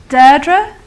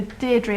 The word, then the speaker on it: Deirdre: So it's Deirdre, as if you're daring me to do something, and then it's literally the second syllable which is more important, dre, rather than dree. So Deirdre, I'm not a big fan.